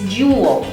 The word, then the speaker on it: dual: It's jewel, like jewel. It's like 3 syllables in one.